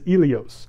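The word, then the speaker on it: Ilios: williams in hittite but the greeks would have pronounced it as elios and this is where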